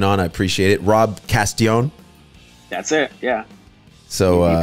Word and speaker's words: Castellon: You know, when I first read it, I thought it was Castellon, and I was like, that can't be right because, you know, the two L's, it's a Spanish name.